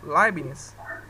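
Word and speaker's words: Leibniz: usei René descarte Mas se vocês pegarem o libnes se escreve l e L é i b n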